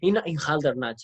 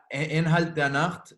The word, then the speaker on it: Inhalt der Nacht: I say it wrong, no? I say always in Haldernach. Ja, Inhalt der Nacht is German.